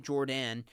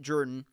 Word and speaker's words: Jordan: That's pronouncing it like my cousin Jordan. It's Jordan, excuse me. See, even I messed it up there, but named after Suge Jordan, who did not pronounce it Jordan. He pronounced it Jordan, and therefore the stadium is Jordan-Hare Stadium.